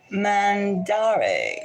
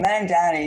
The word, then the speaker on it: Mamdani: Mandare. Zorod Mandare. Okay, I'll get it. If he wins, I'll definitely get it. Mamdani. Okay, tell me how to do it. Mamdani.